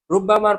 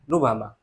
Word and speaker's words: ربما: রুব্বামার পরে মারিফাও আসতে পারে, যেমন রুব্বামাল আমরু কাযালিকা, মনে হয় বিষয়টি এমনই। রুব্বামার দুই ভাবে উচ্চারণ করা হয়, একটা হচ্ছে তাসদিদ সহ রুব্বামা, আরেকটা হচ্ছে তাসদিদ ছাড়া রুবামা।